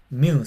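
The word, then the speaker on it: μῦ: Mu se dice mu. Se lee como mu. Si ustedes quieren simplificarlo, hermano, puede decirle mu, pero para que sepa que es como mu, como de mamá.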